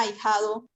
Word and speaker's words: ahijado: Por ejemplo, en la palabra ahijado, cuando lo pronunciamos fonéticamente, no pronunciamos la H y por lo tanto no afecta al dictongo.